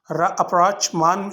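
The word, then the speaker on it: rapprochement: अप्रोचमान यहाँ पे T silent है और इसका मतलब होता है दुश्मनी के बाद दोस्ती में बदल जाना।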